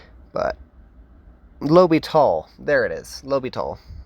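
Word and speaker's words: L'Hôpital: his name right but Lobby tall there it is lby I don't know why I always like to call it oh hosal but it's lital so we have x^2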